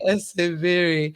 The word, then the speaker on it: Eseverere: So is it essay verere? Eseverere. Okay, I tell people let's make Eseverere. it simpler. Just assume that the last RE is silent.